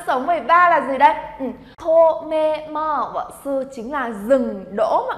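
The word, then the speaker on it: 止めます: Tomemasu chính là dừng đỗ mọi người nhá. Từ này chúng ta đọc là gì đây? Tomemasu.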